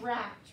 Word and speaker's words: wrapped: When W and R are together in a word, we just hear the sound of R. So my word is wrapped.